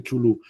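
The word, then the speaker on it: Cthulhu: Chulú, lo pronuncio así yo. Como quieras. Como queráis. Son palabras inventadas por Lovecraft para denominar seres inhumanos son palabras que solo no pueden ser pronunciadas por labios humanos. O sea que yo lo pronuncio como puedo.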